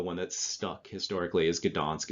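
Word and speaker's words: Gdańsk: it's the german pronunciation is donzig the real pronunciation the the one that's stuck historically is gdansk it's a polish city uh but there was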